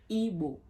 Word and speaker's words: Igbo: and not evil evil evil evil not Bo Igbo it's evil man it's not it's not evil